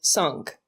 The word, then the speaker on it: cinq: This number sounds almost like cinq. 5. 6. The X is pronounced as an S, so it's six.